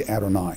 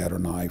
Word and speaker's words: Adonai: What is to be read is the vowels. So you're to read Adonai. When I read in Hebrew aloud, I always say Adonai for the divine name.